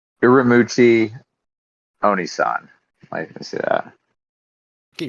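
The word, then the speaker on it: Uramichi Oniisan: Uramuchi Onisan. Let me see that. Get your wife in here and have her pronounce it. Uramichi Onisan.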